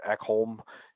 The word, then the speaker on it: Ekholm: So I mean, if you want to add Ekholm, again, he's been on the trade. I like how you pronounced that better.